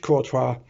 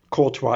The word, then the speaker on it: Courtois: the name of it trying to get the french pronunciation right courtois is the manufacturer antoine